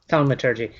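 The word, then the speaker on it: thaumaturgy: I think it's pronounced thalmaturgy.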